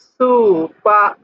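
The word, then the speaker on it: スーパー: school তারপর দেখুন এটা হলো সুপারমার্কেট সুপারমার্কেটের কাতাকানা উচ্চারণ সুখ এখানে একটা টান আছে এখানে একটা টান আছে তাহলে বলতে হবে সুপা সুপা সুপা সুপা একটু টান দিয়ে বলতে হবে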